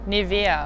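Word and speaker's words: Nivea: से कि German brands को एक जर्मन कैसे प्रोनाउंस करेगा। सो हाउ वुड यू से BMW BMW Audi Audi निविया निविया DHL DHL Adidas Adidas Puma Puma so different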